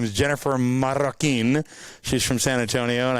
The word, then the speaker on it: Marroquin: No, so I pronounced her name right. Her name is Jennifer Marroquin.